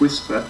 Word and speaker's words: WSPR: to say about whisper wspr pronounced whisper stands for weak signal